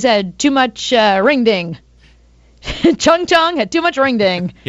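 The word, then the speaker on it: Chuang Chuang: to pronounce this um c h u a n g Chad how would you say that chong chong yeah chong chong the panda okay is just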